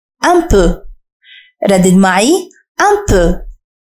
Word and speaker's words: un peu: كلمة قليلا هي un peu. Un peu. ردد معي un peu. حاول أن تنطق جيدا صوت أ في آخر كلمة un peu. Un peu. ليس un peu وإنما un peu.